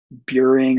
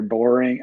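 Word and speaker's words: Buehring: I'm super bored here in Kuwait at like Camp Buring or Boring. I mean, it's boring. Like Camp Boring, Kuwait. It's probably how you're supposed to say it, or at least what soldiers pronounce it as."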